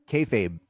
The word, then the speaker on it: kayfabe: Kayfabe.